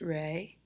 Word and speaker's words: re: oh oh now moving on to rey pronounced rey now that's the pitch it's the upper next